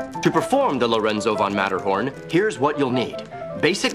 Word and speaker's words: Lorenzo von Matterhorn: Spelled like it sounds, two T's. Lorenzo von Matterhorn.